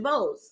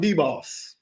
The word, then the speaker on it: DeBose: What is it? DeBose. Okay. It's very simple. I was saying D-Boss.